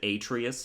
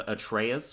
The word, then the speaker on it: Atreus: despite me telling everybody why I pronounce it Atreus instead of at Reyes people tell me I'm